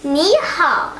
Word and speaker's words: 你好: It's pronounced as ni hao. Okay, say ni hao, Emily.